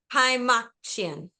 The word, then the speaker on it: Kaymakcian: Hi, Makian. So good, Jody. That's like the best pronunciation of my last name I've ever heard.